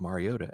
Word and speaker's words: Mariota: Marcus Mariota at Minnesota. Mario Ta as Chris Collinssworth and Mike Trico kept emphasizing tweeting that they'd been pronouncing it wrong his entire career.